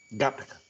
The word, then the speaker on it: Gattaca: Gente, seguinte, porque o Gattaca, aliás, Alexandre, você que é o nosso consultor de cinéfilo, aí, qual é a pronúncia certa aí? Gattaca.